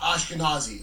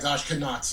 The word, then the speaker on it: Ashkenazi: Uh well, just remember Nazi. It helps you remember what Ashkenazis are.